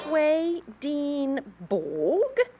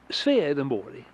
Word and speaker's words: Swedenborg: Your name is Swedenborg? Or you're an alien too? It's pronounced Swedenborg in Swedish.